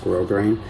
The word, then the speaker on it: grosgrain: But yeah, you get grosgrain ribbon, G-R-O-S-S, grosgrain, it's pronounced grosgrain.